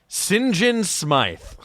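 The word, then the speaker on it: St. John Smythe: undercover, and his name, the name he gives is like, it's spelled out like Saint John Smythe, I believe, but it's pronounced Sinjin Smythe.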